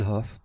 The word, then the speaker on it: Haugh: And my sincerest apologies for mispronouncing Hough in past videos. Simpson Hough, formerly Ian Simpson Architects, was set up in 1987 by Ian Simpson and Rachel Hough.